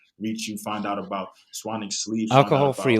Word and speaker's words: Swanwick: That's how it's spelled, Swanwick, but it's pronounced Swanwick.